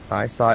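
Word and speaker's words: Isai: you how do you spell how do you spell it i-s-a-i i i s e-sign i sigh oh shoot oh good save oh oh get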